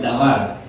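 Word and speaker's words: דבר: tiene que hebreos y se pronunciar en hebreo es davar que quiere decir que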